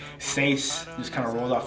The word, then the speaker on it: Seis: Yeah, okay, so my name is Seis, which is 6 for Spanish, 6 in Spanish. I changed the S, number 6, so 6 EIS, so Seis in Spanish because it's spelled S-E-I-S, so Seis.